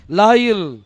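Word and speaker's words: לילה: போது அதுக்கு என்ன கொடுத்தார் லாயில் இதுல மூணு ஆல்பாபெட் வரும் ஒன்னு லேமெட் அடுத்தது யோத் அதாவது யாத் அடுத்தது லேமெட் இந்த மூணு எழுத்து சேரும் போது உங்களுக்கு லாயில் அப்படின்னு சொல்லி உங்களுக்கு என்ன செய்யும் அந்த உச்சரிப்பு உங்களுக்கு வரும் லாயில் அப்படின்னா என்னது இருள்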